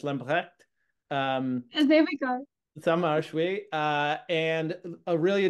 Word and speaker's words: Lambrechts: There's a ch in there, Lambrecht. I want to say it like French, Lambrecht.